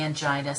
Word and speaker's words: angina: at the definitions of angina a and GI na I say angina some people could say angina both are considered correct so you can pronounce it any way you like there is chronic stable